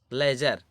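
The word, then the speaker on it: ledger: लेजर, ये देखिए हमारा यहाँ पर भी हमारा क्या है, डी साइलेंट है, लेजर।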